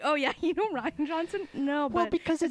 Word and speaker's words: Rian Johnson: Until today, I pronounced his name Rian Johnson. Is it not just Ryan Johnson? It is absolutely just Ryan Johnson.